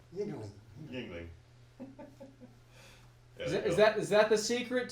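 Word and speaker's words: Yuengling: Yingling. Yingling.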